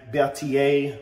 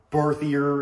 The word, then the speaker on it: Berthier: Even before that, you had the Berthier, or Berthier, if you're just lazy and don't want to pronounce it right.